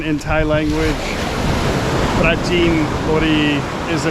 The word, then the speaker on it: Prachinburi: So we're headed to a place, it's pretty well known, but in English it's spelled Prachinburi. But if you want to know, it's not actually Prachinburi, it's Prachinburi. Prachinburi is where we are headed this morning.